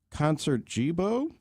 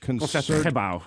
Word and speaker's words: Concertgebouw: You're listening to the Royal Concert Jibo? Somebody called in later and said, Josh, I know that you're a student. You do a great job, but it's pronounced Concertgebouw. Concertgebouw.